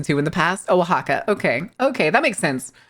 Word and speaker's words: Oaxaca: Oh, Oaxaca. Okay. Okay, that makes sense. With the X making the H sound.